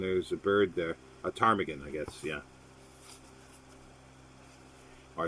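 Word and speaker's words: ptarmigan: a bird there a tarmigan i guess yeah or i should say tarmakin i think that's the right pronunciation tarmigan it's like smith in woodhouse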